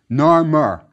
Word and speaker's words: Narmer: top is a catfish which was pronounced gnar in ancient egyptian beneath it is a chisel pronounced mer narmer that's how the first king's name was pronounced now let's look at